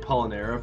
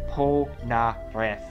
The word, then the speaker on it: Polnareff: Polnareff. That's not how they pronounce it in the show, I'm sorry. That's why I keep getting it wrong. They're like, Polnareff! With thick Japanese accents, Cam.